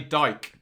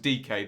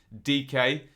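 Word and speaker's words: Dike: And do not say Dyke is the rule here. They've been very clear. Pronounced DK. This is Daryl DK.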